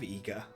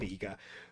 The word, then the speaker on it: Iga: I would have pronounced that as Iga years and years ago, but it would be Iga because the way I is read in Japanese is actually an E sound, but yeah.